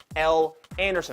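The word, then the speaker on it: Elle Anderson: in Louisville and in fact her name is pronounced l anderson i know we made fun of it last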